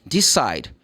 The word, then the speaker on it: decide: So in this case, you don't pronounce the letter E.